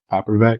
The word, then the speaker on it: Popravak: Today we got Melody Hellfire Popravak. Is that how you pronounce it? Yes, that was most people mess that up. Good job.